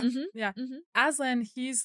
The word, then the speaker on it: Aslan: Aslan, he's like this Christ figure in Narnia where he is innocent or like without fault and is killed.